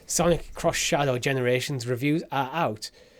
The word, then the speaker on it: Sonic X Shadow Generations: Sonic X Shadow generations how do you say the X cross cross Sonic cross Shadow Sonic cross Shadow generations reviews are out it's